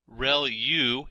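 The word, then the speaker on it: ReLU: there are multiple hidden layers like convolution layer real U is how that is pronounced and that's the rectified linear unit that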